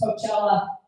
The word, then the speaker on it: Coachella: I was like, oh babe, I don't mean to correct you, but it's actually pronounced Coachella.